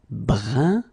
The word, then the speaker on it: brun: Then another example. Brun, brun. Okay, fin. Brun, fin. So you write it differently, but then you pronounce it like the first one.